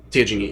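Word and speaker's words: Teugenia: Teogenia, yes. Well, how you say it? Teogenia. Teogenie? Teogenia. Teogenia. Okay. It looks like Virginia, but Tevginia. Yeah, that's what I thought it was. It's T-E-U.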